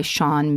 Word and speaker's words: Sean: What I've gathered is that the on in Sean is similar to the on in Siobhan and rhymes with how an English person would pronounce barn, which would be bon, silent R.